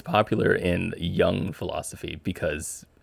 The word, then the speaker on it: Jung: Um, Young with a Y. Is I've never knew. Is that how you pronounce his name? Yeah. Is Young, not Jung.